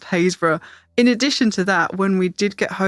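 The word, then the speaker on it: Happisburgh: of that one but if you read hayes written down it is spelled happysburg there's no one there's no way you'd look at it and think it was pronounced hazra in addition to that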